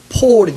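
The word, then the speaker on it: Paul: 얘기하는 거예요 요즘 단 영어로 발음하면 원래 그 사람의 발음은 바울이 맞고 영어로 발음이 바뀌면서 영어식으로 발음하다 보니까 폴이 됐습니다 폴 초대교회 당시에 로마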